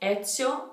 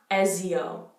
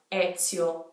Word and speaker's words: Ezio: So that Z, it's like, think of the word pizza. We actually did take in this pronunciation rule when we say pizza, that S sound, Ezio, Ezio. So that rule applies to the name Ezio.